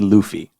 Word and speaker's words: Luffy: So it's Monkey D. Luffy is how it's pronounced. What did I say? Luffy? Luffy. That's okay. English reading, it would be Luffy. Yeah. So you're not wrong there, but in the series,